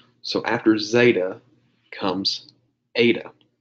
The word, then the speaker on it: eta: So after zeta comes eta. Zeta, eta, and the last one's going to be theta. They all rhyme.